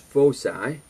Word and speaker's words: foci: between p and two fixed points which are pronounced foci is a constant so if we look over